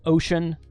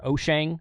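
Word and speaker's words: Wouxun: This is by Oshang. The way you're supposed to say that is Ocean or Oshang, depending on who you listen to.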